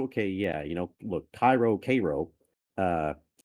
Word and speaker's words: Cairo: K well thing is it's spelled Cairo and it should be called Cairo but the locals call it Cairo and that has always